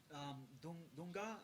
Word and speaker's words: Dunga: Then they had Dunga. Is that how you say his name? Yeah, Dunga.